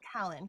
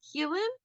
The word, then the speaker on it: Keelan: I call him Callan. Keelan? Keelan, Keelan. yes, Okay. yes. Well, in I my head asked he's Callan. Alexa. I asked Okay. Alexa how to say it. um, According to Alexa, it's pronounced Keelan. Um, yes, and he's like